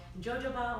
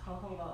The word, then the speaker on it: jojoba: or well a lot of people call it jojoba oil jojoba yeah about once but it's actually pronounced hohoho oil the cool thing about mobil oil is